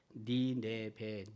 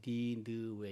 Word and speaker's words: 니느웨: 니네베, 니느웨 이건 발음의 문제예요. 발음의 문제. 니네베로 읽을 수도 있고 니느웨라고 읽을 수도 있습니다.